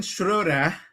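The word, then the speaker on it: Schröder: V never should have given Shura and I'm I'm pronouncing it right.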